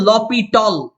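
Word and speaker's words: L'Hôpital: বাট এটার proper যে pronunciation বা উচ্চারণ এটা হচ্ছে লপিটল, লপিটল রুল।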